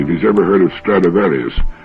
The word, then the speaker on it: Stradivarius: he's ever heard of Stradivarius which is the Latin pronunciation of the name throughout history there'd been